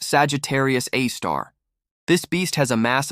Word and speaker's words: Sagittarius A*: It's called Sagittarius A, pronounced Sagittarius A star.